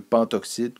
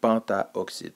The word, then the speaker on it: pentoxyde: utilise le préf panta pourquoi est-ce qu'on enlève le a ben c'est une question de sonorité ça se prononce mieux pentoxyde que pentaoxyde tout simplement et finalement p4s3 le